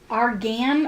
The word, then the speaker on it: argan: bought tea tree oil argan oil or I think that's how you pronounce it a r g an Argan Oil yeah uh and then